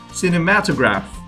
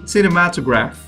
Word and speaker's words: cinematograph: camera and projector, the cinematograph. And I'm not confident with how you pronounce it again, but I think I would say cinematograph. There you go. Cinematograph. Like cinema and then to graph.